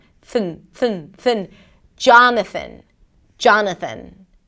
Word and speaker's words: Jonathan: Jonathan.